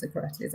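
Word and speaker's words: Sokratis: I said with the right pronunciation at the beginning when he first signed him, I got ripped apart for saying it with a Greek inflection because I tried to say it properly. It's Socrates.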